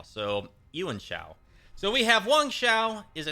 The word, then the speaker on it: Yuan Shao: I think that this is really pronounced as Yuan Shao. So Yuan Shao.